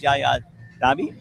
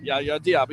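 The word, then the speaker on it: Yaya Diaby: Trent Williams versus Yaya Dabby. Did I say it right? Yaya Diab.i. Yes. Yeah. I'm sorry. Diab.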